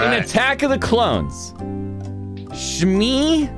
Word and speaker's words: Shmi: In Attack of the Clones, Shmi, I think it's pronounced Shmi Skywalker.